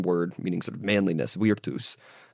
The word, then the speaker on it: virtus: Vertus uh virtus in sort of ecclesiastical pronunciation pronounce the v.